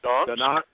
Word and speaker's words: Donetsk: Or how do you pronounce that? Donetsk. Donetsk, okay.